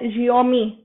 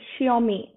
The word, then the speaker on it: Xiaomi: this is the spelling i have written correct jiaomi uh xiaomi how we pronounce it xiaomi mi phone mi phone brain so now you